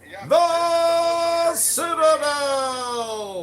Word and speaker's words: Citadel: The Citadel!